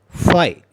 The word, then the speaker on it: phi: It is denoted by phi. How do you pronounce this?